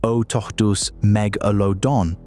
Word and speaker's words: Otodus megalodon: Otodus Megalodon, pronounced Otodus Megalodon, was not a great white shark that grew too big.